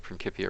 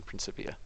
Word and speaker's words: Principia: It depends on if you're using classical or ecclesiastic pronunciation, Okay. and my Latin is classical, so that's how I roll.